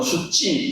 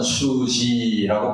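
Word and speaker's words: Suu Kyi: 물론 이제 어떤 사람은 수찌 수치 이렇게 말음하는데 이제 미안마을 몰라서 그렇습니다. 미안마 글자 자체는에 찌예요. 찌인데 앞에 수 이렇게 부드러운 발음이면 뒤에도지 이렇게 부드러운 발음이 됩니다. 그래서 아산 수지라고 발음하는게 맞습니다. 남무산 수지 여사 지금 이제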